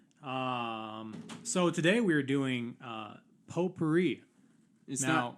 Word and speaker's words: potpourri: glad you asked so today we are doing potpourri is now it's not pronounced pot powering pot party know so it's party so it's an original